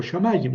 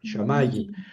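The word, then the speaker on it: שָׁמַיִם: Aquí dice shamayim o o shamayim. Sí, en realidad la pronunciación, el acento va en la en la en la en esta pataj shamaayim, pero eso eso todavía no lo hemos estudiado.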